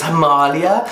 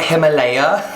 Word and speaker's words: Himalaya: It's Himalaya, not Himalaya, which I thought I pronounced it right.